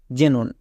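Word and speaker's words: xenon: তিন নম্বর ট্রিক্সটি হচ্ছে কোন ওয়ার্ডের এর শুরুতে যদি আমরা এক্স পাই তখন আমরা এক্স এর জন্য বর্গীয় জো ইউজ করে দেব যেমন দেখো জেরক্স জেনন এখানে প্রত্যেকটি ওয়ার্ডের শুরুতে এক্স আছে তাই এক্স এর জন্য বর্গীয় যোগ হয়ে যাবে যেকোনো ওয়ার্ডের শুরুতে যদি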